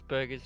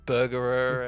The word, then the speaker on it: Burger: He just couldn't even pronounce Burger's name. It's just Burger. He pronounced it like Burgerer, and I'm like, what are you doing?